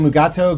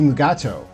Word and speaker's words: Mugato: 2nd season of Star Trek Lower Decks, titled Mugato Gumato.